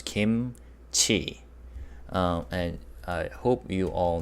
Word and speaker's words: 김치: 김, 그, 이, 무. So that becomes kim, and ts and e combined becomes chi. So altogether it becomes kimchi.